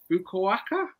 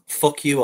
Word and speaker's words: Fukuoka: I think it's pronounced fuck you, okay. Yeah. Hear that a lot. Sorry, Charlotte, can you pronounce that for us so we know? Yeah, so you had it spot on for the Abispa Fukuoka. That was better than his. His wasn't spot on at all compared to that.